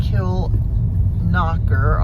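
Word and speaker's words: Kilconquhar: okay so we're in Kill knocker although it's spelled kill conquer oh look at this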